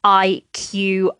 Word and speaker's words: iQIYI: And that is, the first one is iQIYI, and that is spelled IQIYI, but it's said iQIYI.